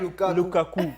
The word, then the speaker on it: Lukaku: Lukaku.